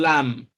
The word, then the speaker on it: lamb: Now, take note that in most cases, when M comes before B, B is silent, and what is pronounced is M. So we have it in lamb.